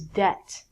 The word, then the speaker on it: debt: This word is debt.